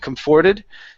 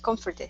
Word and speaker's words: comforted: here so comforted so we want to emphasize the the the come at the very beginning just a little bit more okay instead of forted okay this is her